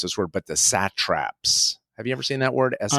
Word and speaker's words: satrap: this word, but the satraps. Have you ever seen that word? SATRAP. It's like the local governor. Like in golf, like there's a sand trap.